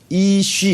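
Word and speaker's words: iş: 일이라고 이제 IL 이렇게 우리 한글로는 일인데 터키어로는 이쉬 이렇게 되고 우리가 돌인데 터키어로는 토시 이렇게 돼요. 그래서 L이라는 요 발음이 터키에서는 SH로 바뀌어진다는 걸 얘기를 해요.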